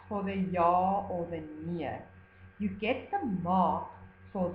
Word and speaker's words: nee: Please look how nee is spelled. It is not spelled N-I-E. Okay, N-I-E is nie. It's the word that we use when we are writing in the negative. This, N-E-E, means no.